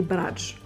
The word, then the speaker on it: bradj: Alors ma chérie, on va aller en Algérie encore une fois et on va faire les bradj. Les bradj. Exactement, Bradj. tu le prononces très très bien.